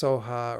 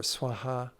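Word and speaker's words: svāhā: The final syllable, sometimes pronounced soha or swaha, this is may this happen.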